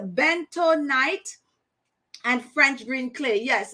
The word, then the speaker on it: bentonite: bunny um bento knight i'm always pronouncing this word wrong because i don't spend the time to pronounce this word i'm always saying like bonito but is a bento night and french green clay